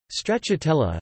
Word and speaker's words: Stracciatella: Stracciatella, Italian pronunciation, stracciatella, in Italian, a diminutive derived from